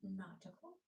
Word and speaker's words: nautical: A-u is kind of like a short o sound, but it's deeper. Your jaw is dropped even more. So, it's /ɔ/ /ɔ/ nau-ti-cal.